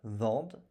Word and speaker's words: vendent: Il elle vendent E N T avec bien sûr NT que nous ne prononçons pas.